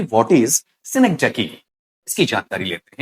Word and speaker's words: synecdoche: में, पर इस तरीके से वहां पर जो उच्चारण है वो आप पढ़ेंगे आपका सेनेक्टकी।